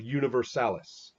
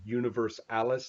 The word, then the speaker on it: Universalis: So So that's then, yeah, the pronunciation is very funny because yeah. some people pronounce it Universe Alice like it was a girl, you know.